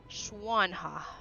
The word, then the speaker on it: Xuanhua: No, like swan with a shish. Xuanhua.